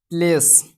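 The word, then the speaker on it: place: जैसे यहाँ पे जो है, जैसे यहाँ पे लिखते हैं हम प्लेस। द प्लेस में जो है ई हमेशा आपका साइलेंट रहेगा और लॉन्ग साउंड वॉवेल जो है लॉन्ग साउंड आएगा।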